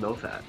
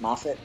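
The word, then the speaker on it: Moffat: good old friend Steven mofat yep y CU we know him personally MAF um what I I was listening I was watching a Doctor Who documentary and I think it's actually pronounced mafit um I don't care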